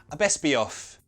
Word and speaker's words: I best be off: Okay, pronunciation, that t gets removed, so it sounds like, "bess-be", off were gonna connect it with a "ye" sound.